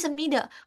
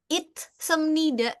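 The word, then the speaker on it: 있습니다: sini kan ada isemnida kenapa bacanya isemida kenapa bacanya enggak it semnida gitu nah terus kenapa in oh ya ini Semnida.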